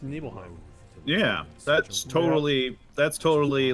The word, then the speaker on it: Nibelheim: starts establishing him super also do you say nibbleheim no more it's supposed to be pronounced Nibelheim yeah that's totally that's totally like as guardian